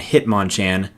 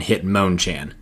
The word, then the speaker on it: Hitmonchan: Machamp, not Machamp, Hitmonlee and Hitmonchan, not Hitmonlee and Hitmonchan. And now, without further ado, here's the Pokemon pronunciation that I could not believe.